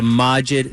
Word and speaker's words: Majid: It's Majid.